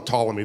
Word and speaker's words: Ptolemy: told that uh King Ptolemy though in English we don't pronounce emphalomy because in English we don't like Words that start we call them Ptolemy the p is silent Aaron pankin this is